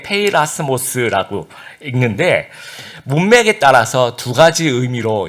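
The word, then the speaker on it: πειρασμός: 읽을 때 페이라스모스라고 읽는데 문맥에 따라서 2가지 의미로 이제 해석을 하게 됩니다.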